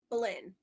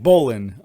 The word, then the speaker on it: Belyn: Belyn. Belyn. Belyn, Yeah, a like cosplayer. like one of the wives that Henry VIII killed. Okay. Like Bolin. Okay, Bolin.